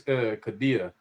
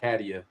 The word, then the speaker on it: Kadia: Her name is her name is said it's Kadia, not Caddy, not Cadia. Excuse me, Kadia Professor Williams.